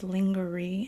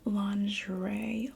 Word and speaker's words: lingerie: think she always wears lingery and ears lingery oh lingerie lingerie yeah I don't know how they pronounce it I thought it was lingery hey does anybody want